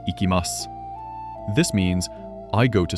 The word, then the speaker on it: いきます: The word is ikimas. I will say it first. Ikimas. Now your turn to say it. Ikimas.